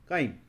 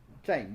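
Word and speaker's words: chyme: एक बोलस और दूसरा काइम और चाइम what ever you want to pronounce it so bolus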